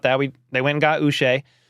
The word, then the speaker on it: Uche: They went and got Uche. And I always remember his last name because it rhymes with Boucher, Bobby Boucher from The Waterboy.